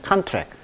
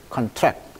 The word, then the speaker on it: contract: 그래서 강세가 이름절에 있습니다. 그때는 contract, 동사일 때는 contract, 수축하다 이런 뜻이 있죠. contract, contract. 강세가 발음이 달라져요.